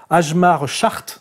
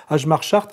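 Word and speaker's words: Hjalmar Schacht: Et ce qui est intéressant, c'est que ce monsieur qu'on prononce Ajmar Chart, n'est-ce pas, enfin, qui s'appelle comme ça, mais ça se prononce Chart, oui, Ajmar Chart, nous raconte en fait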